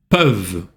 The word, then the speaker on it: peuvent: Les éléphants ne peuvent pas sauter comme les kangourous. Обращаем внимание на сказуемую peuvent, ent не читается и eu читается peuvent.